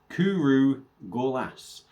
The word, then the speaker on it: Cwrw Gorlas: And apparently it is pronounced Cwrw gorlas.